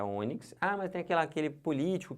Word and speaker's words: ônix: Não é onix, é ônix.